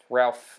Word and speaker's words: Ralph: No, but yeah, and it's got Ralph Fiennes. It has everyone in it. Is that how you say his name? I've heard it like Rafe Fiennes.